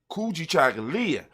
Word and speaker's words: Kujichagulia: ability to do it for ourselves and self-determination kuji chagalya when you say it properly kuji chocolate and just let it ring it rings with